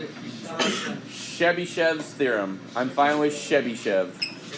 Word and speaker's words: Chebyshev: Chebyshev's theorem. I'm fine with Chebyshev. It's actually Russian, and you don't say it Chebyshev. You would say it more Chebyshev.